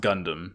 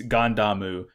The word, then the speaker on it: Gundam: this whole Gund arm Incorporated thing but it's pronounced Gundam it's it's gandamu the same way in as you say the